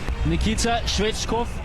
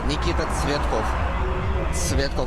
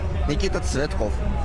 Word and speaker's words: Nikita Tsvetkov: Nikita Shvechkov from Uzbekistan. Am I pronouncing your name correct? How do I pronounce your name? Nikita Shvechkov? Nikita Tsvetkov. It's difficult to say for European people, but Nikita Tsvetkov.